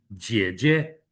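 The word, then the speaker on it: 姐姐: The older one we say 姐姐, 姐姐, G-E-A, third tone, 姐. But since it's 姐姐, the second syllable, 姐, is neutral. So it's 姐姐, that's older sister.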